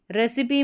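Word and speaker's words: recipe: रेसिपी में भी यहां पर रेसिपी। ठीक है? इस तरीके से कर लें इसको। रेसिपी ई साउंड इसका प्रोनाउंस होगा।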